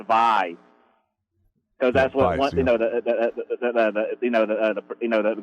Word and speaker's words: Vay: It's called Vay, V-A-Y. But no, that's the way I always pronounced it, but it's actually pronounced Vi.